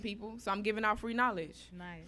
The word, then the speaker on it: Free Knowledge: so I'm giving out free knowledge. Nice. Free with the K is silent, so that's how I got my name."